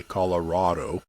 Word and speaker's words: Colorado: do you say Colorado I say Colorado some people say Colorado yeah and so when